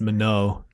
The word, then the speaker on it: Minogue: I always heard it pronounced Minogue. Minnow, like the fish.